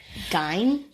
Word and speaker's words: Gein: Edward Theodore Gein, which I'll point out is, people pronounce it Gein and Gein.